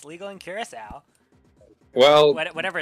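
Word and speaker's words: Curaçao: You're not talking about Curacao. It is Curacao.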